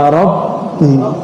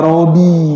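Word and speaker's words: ربي: Robi itu nama temanku, bacanya ya Robbi, bukan ya Robi, ya banyak tuh ya artis-artis nyanyi, benar nggak?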